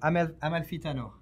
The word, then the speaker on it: Amalfitano: Amalfitano.